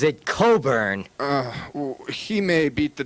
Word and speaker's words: Cockburn: the kabasi which according to Alexander cockburn he pronounces it Coburn uh he may beat the devil any way he chooses but his name is spelled c c k B RN now that's cockburn in my language now Mr cockburn writing for